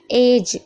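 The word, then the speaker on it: edge: एज एज means किनारा होता है। यह भी याद रखिएगा। और यहां पर भी देखिए डी साइलेंट है।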